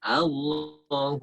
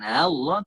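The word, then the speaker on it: الله: Buru-buru rusuh misalkan ya, takbir Allahu Akbar, itu salah, bukan Allah tapi Allah. Tekan, pastikan ada tekanan di pangkal tenggorokan kita. Allah bukan Allah.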